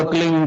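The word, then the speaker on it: क्लीं: की मात्रा और बिंदी, उसका उच्चारण होगा क्लीन गा। गा की ध्वनि निकलेगी पीछे।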